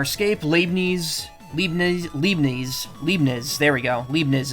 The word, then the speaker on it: Leibniz: Leibniz is the way you're supposed to pronounce it.